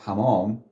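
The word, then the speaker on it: حمام: There is small, very small vowel here, which is like a se, like this. What it does is makes you pronounce this letter a bit harder, almost twice.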